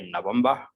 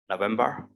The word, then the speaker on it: November: In the British pronunciation, you can say November, November, or November, November.